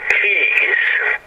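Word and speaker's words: quays: to a things that called keys it's pronounce Keys QA Ys there're little ports that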